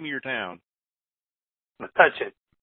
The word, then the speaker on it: Metuchen: Metuchen. Say that again. Metuchen.